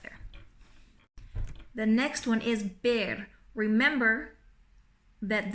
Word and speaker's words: ver: the next one is bear remember that the V in Spanish is pronounced like the B okay so bear to